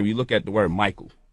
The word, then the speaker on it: Michael: So like we look at the word Michael, right? CH is pronounced like a K, right?